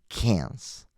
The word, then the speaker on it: Cairns: Cairns.